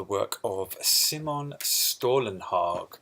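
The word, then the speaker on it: Stålenhag: of a sim on stolen hawk because that is how you say it and this is stolen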